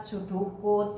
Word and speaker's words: pseudocode: Nah, kemudian ada yang pseudocode, ya ini tulisannya pseudocode tapi kalian bacanya pseudocode, yaitu penyajian algoritma dengan menggunakan kode yang mirip sekali dengan kode-kode bahasa pemrograman.